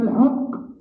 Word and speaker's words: الحق: ولكن الحق من أقصى الحلق. একেবারে হলকের মধ্যে থেকেই উচ্চারণটা হয়, কঠিন ভাবে উচ্চারণ করতে হয়।